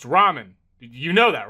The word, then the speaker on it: ramen: Door Dash is on its way to deliver some Raymen and I don't want to spill any around the pyramid floors. Uh, it's pronounced ramen.